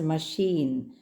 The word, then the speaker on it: machine: We have to say it as machine. I already mentioned to you yesterday. Please follow the pronunciations very carefully. And this symbol, a kind of a S, stretched S, is the sound for ch or sh.